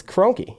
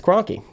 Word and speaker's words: Kroenke: know me yeah just it's it's crunky it's Kroenke yeah never pronounce his name right huh Kroenke is the